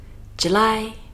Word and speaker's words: July: March, April, May, June, July. Careful of this one, we put the stress on the lie, and if we put the stress at the beginning, it would sound like the girl's name, Julie.